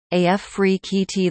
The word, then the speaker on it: Afrekete: work from home review Africa at work from home jobs pronounced AF free KEYT the logit group Link